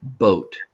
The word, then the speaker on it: boat: Like the word boat. Boat. I know that boat has an A in it, but I don't hear it. The A is silent.